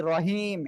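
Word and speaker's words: رحيم: আমি তো এখানে বলি নাই এই যে আপনি রহিম এমন বলেছেন রহিম গলার হাটা গলাটা চেপে উচ্চারণ করতে হবে আচ্ছা আমি আবার পড়ি আবার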